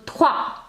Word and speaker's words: trois: But O-I is oua. Soir, yes, we did in bonsoir. Okay, O-I is oua. And the S at the end will not be pronounced. So, trois.